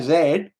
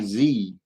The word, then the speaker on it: Z: good with this zed we say zed americans say zee come on think must